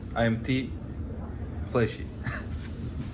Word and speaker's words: Fleshy: Oh, it's not Space Fleshy, it's IMT Flesh. Flesh, you just pause. That makes sense. Raafaa and Kobe, now I know how to say it. What? So the space is silent?